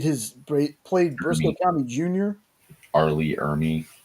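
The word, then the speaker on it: R. Lee Ermey: Arley Ermy. Arley Ermy.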